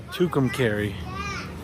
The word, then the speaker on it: Tucumcari: Found out you pronounce the name of this town by Tucumcari.